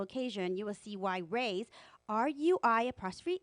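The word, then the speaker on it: Rui's: party or special occasion you will see why rays are you I apostrophe s spell Rey's Shanghai Bistro is truly the best Chinese restaurant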